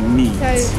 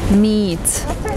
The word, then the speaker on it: meet: we meet so again the meat is along that e it was two it was like it was in between your pronunciation of meat was in between the longer e and the short bar here so it sounds